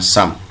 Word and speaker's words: SUM: minggu yang lalu Sharp perhatikan tulisannya ditulis dengan cksum tapi pengucapannya Sam fungsi dari Sam itu